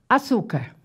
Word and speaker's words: açúcar: Vou colocar a palavra açúcar. Açúcar. Vamos achar a sílaba tônica de açúcar. Su. Chama. Açu. É o su. Então, açu é uma paroxítona.